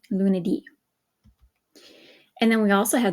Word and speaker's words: lunedì: Okay, notice the accent on the I there, lunedì.